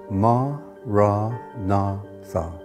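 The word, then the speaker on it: Maranatha: you choose that word say it as four syllables ma ra na Tha listen to the word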